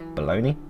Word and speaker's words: bologna: because you're afraid of baloney which is how it's pronounced because I've no idea